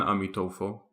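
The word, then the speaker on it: Amituofo: of our own experience I will be using the Chinese pronunciation of his name which is a metaphor so we inhale for the duration of one amita fo hold the air in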